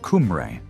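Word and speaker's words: Cymru: Today this name is used only to describe Wales as Simri, which is pronounced Kumray by English speakers.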